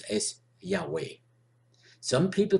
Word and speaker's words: Yahweh: your table in Hebrew which I like to pronounce as Yahweh some people pronounce it for Hebrew letters of your Tawaf a as Jehovah and others as yahuwah instead of Lord L